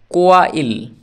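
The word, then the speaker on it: quail: কোয়া যুক্ত আ সমান কোয়া হস ল ইল কোয়া ইল কোয়াইল মানে পালক অতএব কিউ এর উচ্চারণ কোয়া হলো এরপরে কিউ ইউ আই এল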